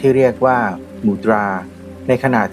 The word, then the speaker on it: มุทรา: ต่อ มูรา กัน ครับ มูรา ผม ขอ ออก เสียง ตาม ภาษา สันสกฤต เนื่อง จาก ต้องการ ที่